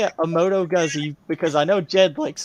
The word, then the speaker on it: Moto Guzzi: Moto Guzzi is proper pronunciation.